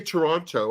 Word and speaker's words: Toronto: Because when I say Toronto, I pronounce the T. It's like somebody paid for all those letters. I'm going to say them.